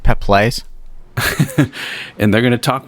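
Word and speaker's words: Peeples: Wilson Judson Mills in Nia peoples that's uh that's pronounced pep plays and they're going to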